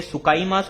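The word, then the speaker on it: 使います: इसलिए बोलने पर ध्यान दो। यहां पे ये सु बनना चाहिए। सु विद अ टी। ठीक है? सु विद अ टी सु ठीक है?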